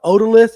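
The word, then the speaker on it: otolith: A odalith. Is that how you say it? Yeah, odolith. You said it correctly.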